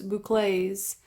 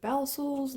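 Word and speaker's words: bouclé: My husband and I looked this yarn up, and it said the pronunciation for this is loops boucles. I didn't know. I was like, Balsals, loops?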